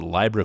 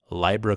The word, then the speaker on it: Libra: yesterday's video rightfully so I was pronouncing a Libra coin as library' coin just want to let